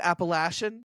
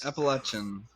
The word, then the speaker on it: Appalachian: Appalachian. Appalachian. No, I did it wrong. You were very close. Appalachin.